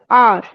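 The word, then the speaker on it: hour: आई am busy with my accounts adding up figures by द आर। हां इसमें एच क्या है? Silent है।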